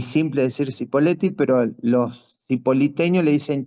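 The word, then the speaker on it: Cipolletti: Está Chipoleti. Acá los nativos le dicen chipoleti, pero se escribe sipoleti, así que yo no sé por qué me resulta fácil y simple decir cipoleti, pero los sipoliteños le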